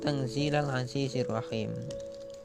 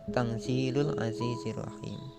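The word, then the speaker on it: تَنْزِيلَ الْعَزِيزِ الرَّحِيمِ: Selanjutnya Tanzilal Azizir Rahim. Nah, ada yang membacanya Tanzilul Azizir Rahim. Ada pula yang membaca Tanzilil Azizir Rahim. ada 3 varian, tangzila, tangzilun, dan tangzili.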